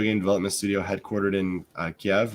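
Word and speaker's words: Kyiv: now Ukrainian video game development Studio headquartered in KV right is how you pronounce that yep with subsidiary offices in Dublin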